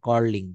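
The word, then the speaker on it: quarreling: দে আর কর্লিং কি ইউ এ আর ই এল আই এন জি এটা উচ্চারণ হবে কর্লিং তারা একে অন্যের সঙ্গে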